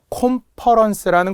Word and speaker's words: 콘퍼런스: 콘퍼런스라는 것도 과거 기출문제였는데요. 보통 우리가 대규모 회의 같은 걸 뜻해. 공무원들은 콘퍼런스 이런 말 되게 많이 쓰거든요. 근데 이걸 컨퍼런스라고도 많이 하기 때문에 그래요. 오 발음이 나니까 오로 적어라. 오 발음이 나는 것은 약속된 거다. 그래서 그런 거는 외워라.